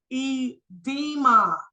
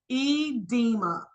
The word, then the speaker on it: edema: okay moving right along the next word it's pronounced edema edema E de M it talks about it on